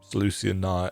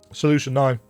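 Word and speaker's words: Solution Nine: all leading us to saluan n saluan that's not how you pronounce that solution n you know the city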